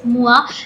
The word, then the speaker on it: Moa: मुझे पहले लगा था ये मोए है because MOI, that's how I pronounced it, but apparently it is Moa.